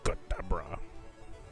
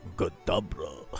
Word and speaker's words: Kadabra: His name is Kadabra. If you say it wrong again. What? What is it? Godabra.